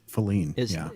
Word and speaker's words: Faline: Faline is how they pronounce it.